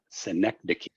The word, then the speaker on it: synecdoche: So that is, let me try it again, Synecdoche.